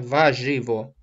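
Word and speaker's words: warzywo: Только R не читается, ва-живо.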